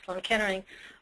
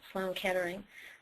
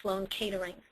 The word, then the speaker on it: Sloan Kettering: knew treated it and that was Sloan Kettering but because of my father's accent he pronounced it like Sloan caterings and so I had